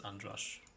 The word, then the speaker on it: Andras: Well, if I told you the name, then it's Andras.